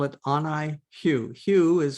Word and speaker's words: HU: and the chant we call it Oni Hugh Hugh is spelled h-u it's a ancient name of God